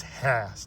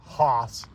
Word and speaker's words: Hass: And it's Hass, not Haas, like I've been saying it.